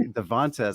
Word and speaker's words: Devantez: to make sure, but Chelsea Devantez is how I would say it, and I'm an expert. So let's bring in Chelsea. Well, Chelsea, you are a teacher. Well, you are a teacher. You are correct. That's exactly how you say it.